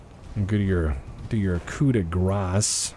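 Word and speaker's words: coup de grâce: give your do your kuda grass because kudegra is not what you think it is if you've been saying coup de gras you've been saying it wrong don't worry i only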